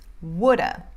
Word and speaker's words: would have: que vocês estão ouvindo, porque muitas vezes você não vai ouvir should have, could have, would have. Fica mais should have ou shoulda, could have ou coulda, or would have, woulda, ok?